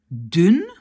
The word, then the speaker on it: dun: Ici, c'est un U court, vlug, mus, dun, et je rajoute dune,